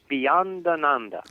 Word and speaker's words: Beyondananda: Beyondananda. Beyond Ananda. Ananda. All the Swamis have Ananda after their name, and I found out that Ananda means bliss.